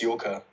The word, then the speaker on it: Yoka: It's Yoka. It's what? Yoka. How do you spell that?